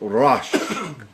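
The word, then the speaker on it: ראש: word there you go rush rush are oshg pronounced rush maybe I know what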